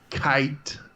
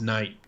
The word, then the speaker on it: Kite: Kite Jr. I said it right this time. We caught it. It doesn't have an N. I've seen his name 100 times, and I always read it as Knight.